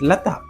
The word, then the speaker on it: Lata: Like I said, her name is Lata. പക്ഷേ നമ്മൾ എന്താണ് വിളിക്കുന്നത്? Lada. Why?